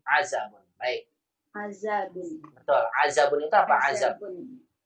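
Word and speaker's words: عزب: Hati-hati ya, jangan sampai salah bacanya adab.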